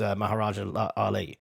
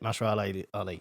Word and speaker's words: Mahershala Ali: But basically, the only one who was actually cast was Maharaja Ali. I can never say his name. Mahershala, that's it. Mahershala Ali.